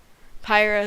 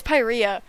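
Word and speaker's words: Pyrrhia: a planet to Earth pyra is located in Oklahoma also I've been pronouncing it's not pyra and I know it's not pyra we're talking about pronunciations earlier it's pyria but I will still always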